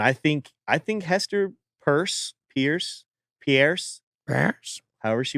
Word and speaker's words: Peirce: advocacy uh Pierce says or purse as it's pronounced on her voicemail uh purse said is